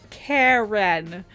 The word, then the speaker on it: Karin: Okay, just so we're clear, her name is Karen. Karen. I understand why they put the accent on the A, though. It's to make it more authentic to the world. Sure, but it's totally Karen.